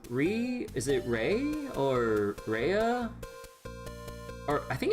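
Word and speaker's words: Reah: Re is it Rey or Rehea or I think it's just Rey, right? Ria.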